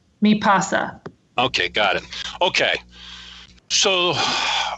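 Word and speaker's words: MiPasa: I get it right it's me pasa mi PA si me pasa okay got it okay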